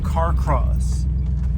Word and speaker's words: Carcross: Alright, we are entering the town of Carcross. That's how you pronounce that.